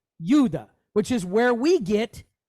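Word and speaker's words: יהודה: It's just like the word, now we, in the West, we pronounce it, and we think we're doing awesome. We pronounce it Yehuda. But that's not how you pronounce it. If you go to Israel and say it that way, they're going to look at you like you're crazy. They pronounce it Yuda. Okay, Yuda.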